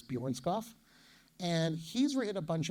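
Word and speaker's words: Bjørnskov: I never know how to pronounce the O with the slash in it, but I believe it's Bjornskov.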